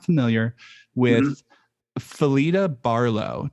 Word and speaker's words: Phyllida: I was not familiar with Phyllida Barlow. Did I pronounce that right? I think it's pronounced Phyllida. Phyllida.